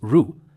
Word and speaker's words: 汝: When reading, there are also cases where it's pronounced as Ru.